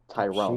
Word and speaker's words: Tyrone: Very easy. Tyrone. 2 syllables.